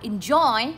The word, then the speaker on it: enjoy: Enjoy. À, người ta đọc là enjoy đúng không? Enjoy lên giọng ở âm số 2.